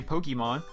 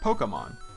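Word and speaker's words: Pokémon: See, a lot of people say Pokemon. It's actually pronounced Pokemon.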